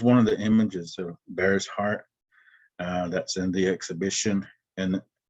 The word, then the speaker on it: Bear's Heart: we're highlighting three cheyenne artists and they're they're bear's heart no that's how we say his name knuckles